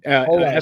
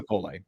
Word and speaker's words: Pole: New addition to Esa Pole or Pole? Pole. Esa Pole. Two syllables.